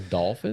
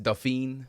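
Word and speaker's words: dauphin: dolphin of France a dolphin I'm pretty sure it's pronounced doine of France but it looks like dolphin like a dolphin like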